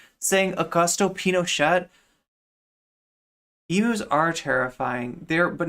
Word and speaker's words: Pinochet: Okay, but like, I mean, the right way to say it is Pinochet. Bad Empanada saying it wrong. The T is silent. It's Pinochet.